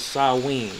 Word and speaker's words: Samhain: i n for some reason uh is perfectly pronounced as saen okay it says over here Sam pronounced S